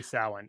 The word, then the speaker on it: Samhain: Samhain seems to be the people who I trust the most on this say Samhain. And there is such a date on the calendar called Samhain.